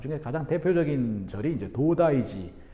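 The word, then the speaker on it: 東大寺: 그 중에 가장 대표적인 절이 이제 도다이지, 지라고 하는 게 우리나라 절사자를 일본식으로 발음한 거예요. 교과서는 그래서 도다이사 이렇게 나옵니다. 근데 이제 실제로 일본 사람한테 도다이사 이렇게 물어보면 못 알아들어요. 도다이지.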